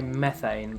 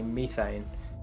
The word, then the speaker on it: methane: So Americans say methane, but people in the UK we say methane.